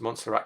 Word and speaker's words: Montserrat: Oh, Rebecca says I pronounced Montserrat correctly.